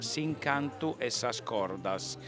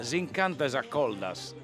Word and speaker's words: S'incantu e s'ascordas: disco che si intitola, detto all'italiana, S'incantu e s'ascordas, ma si pronuncia S'incantu e s'accoldas. È molto diverso, no? Da S'incantu e s'ascordas, che è esattamente come lo direbbe uno che non lo parla.